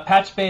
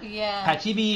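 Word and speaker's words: Pachube: Uh, in other news, uh, Patch Bay is now Kosum.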